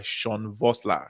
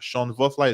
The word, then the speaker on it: Sean Vossler: and then get Seven Figure Marketing Copy by Sean Vossler. Sean Vossler is spelled SEANVOSSLER, right?